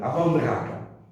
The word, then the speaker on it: Amandraka: Et ça s'appelle Amandraka. C'est ce combat des Matsé qui s'appelle Amandraka. Amandraka. Amandraka. La Mandraka. Ah, Comme le d'accord. Moussaka, Amandraka. Amandraka. Comme ça se prononce.